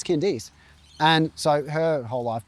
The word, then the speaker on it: Candice: written Candice, I guess, C-A-N-D-I-C-E, C-A-N-D-I-C-E. And so a lot of people would say Candice when they see that name instead of Candice, but her parents named